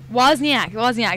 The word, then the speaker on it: Wozniak: His name is also Steve, but I think it's Wozniacki or something. Wozniak. That's how you say it.